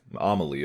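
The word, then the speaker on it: Amalie: venue right uh the Amal Arena Arena yeah yeah amaly oh I said it wrong the entire time but we were here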